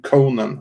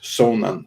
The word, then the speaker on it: Conan: incorrectly in samaria but conan himself would have said that i'm conan from uh from chimeria and not sonan from samaria and um just a